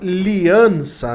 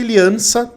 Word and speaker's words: Liianza: coisa e bom contatei liança né eu falo liança mas é liança né com dois is na hora de pronunciar o nome dele mas fala aliança que